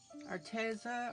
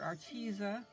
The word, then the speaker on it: Arteza: a little bit of my arteza or artisa however you want to pronounce it pen now i do